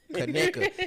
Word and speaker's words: Conecuh: Of course, I miss steak and Kaneka sausage and all that shit, but I enjoy being healthy more.